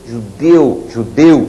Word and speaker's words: judeu: Olha a diferença de pronúncia. Chapéu, som estridente. Judeu, som abafado. Herói, som estridente. Afoito, mais abafado.